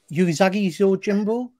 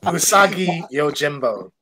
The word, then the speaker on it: Usagi Yojimbo: I get the name on pronounce it, pronounce it, Pete. I'm a Geordie. I can barely speak English, man. Yuzagi Zo Jimbo. That was sad how close that was. No. So close. So far away. Usagi Yojimbo.